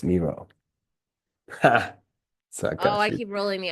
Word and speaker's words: Miro: I love to getting names right and it's pronounced Miro. Oh, I keep rolling the Rs. Miro.